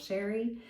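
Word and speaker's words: Cherri: My name is Sherri and that is spelled c h e r r i. It is spelled a little fancy but pronounced plain old Sherri.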